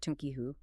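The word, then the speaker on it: تُنكِحُوا: and Alabbari explains that the entire meaning hinges on a single vowel pronunciation with a dama on the first letter making it tunihoo.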